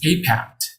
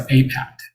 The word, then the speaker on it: APAIT: So we're going to keep the acronym of APAIT, but it's going to be essentially pronounced as APAT, and it will stand for Access to Prevention, Advocacy, Intervention, and Treatment.